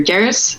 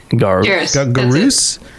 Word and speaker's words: Garrus: But yeah, I wasn't really surprised that Garrus took as much of the answers as he did.